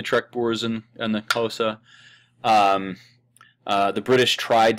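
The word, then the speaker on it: Xhosa: areas of European settlement these are the kosa people um the X there is the transliteration of one of the Clicks in this language um so that's why it's spelled that way but the kosa people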